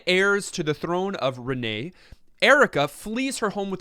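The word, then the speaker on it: Renais: on the nation of Renee don't don't pronounce the S it's clearly a not too French yes as one of the twin heirs to the throne of Renee Erica flees her home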